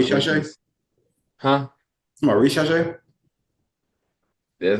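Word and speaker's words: Risacher: Come on, Rishache? That's how you pronounce his name?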